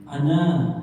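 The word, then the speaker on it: أنا: Ini ana tulisannya ya ana, tetapi harus dibaca pendek. Ya, kecuali kalau dia berhenti di situ. Kecuali kalau berhenti di situ tetap dibaca panjang satu ayunan.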